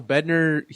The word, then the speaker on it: Bednar: So Bednar, Ryan Bednar, Jared Bednar, Jared Bednar.